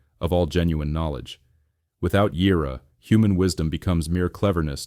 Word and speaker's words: יִרְאָה: Next comes Yirah, pronounced Yirah, often translated as fear of the Lord, as in Proverbs 1:7.